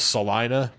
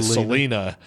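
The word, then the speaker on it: Celina: a town there and it's called Salina and it's spelled c i a my mom's name is spelled the exact same way but she goes by Selena so whenever I went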